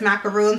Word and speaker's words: macaron: I always say macaron because that's how it's spelled, but I know full well in my head that it's macaroon, so bear with me.